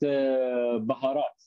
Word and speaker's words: baharat: Yeah, for some reason I was thinking it was pronounced habanero. Am I? No, 7 spices. Yeah. They call it baharat.